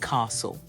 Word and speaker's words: castle: no T sound there and Castle again the t is silent also in the word